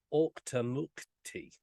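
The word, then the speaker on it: Auchtermuchty: but it's in the town of OCTA mukti and that is the pronunciation I did check that out before I done this because it's it's horrendously difficult to even spell so the Forest Hills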